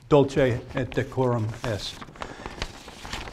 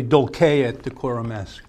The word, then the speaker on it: Dulce et Decorum Est: of the poem is dulce at decorum yes and that is that's the I'm sorry that's the modern Italian pronunciation it's actually dulce at decorum s bent double like old